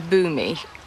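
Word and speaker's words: Bumi: One of them was Boommy, which is spelled B U M I, which I think would have been fairly unfortunate for a child.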